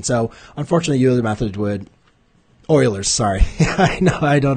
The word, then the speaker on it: Euler: in there but yes i am aware it's oilers not the euler's i don't know why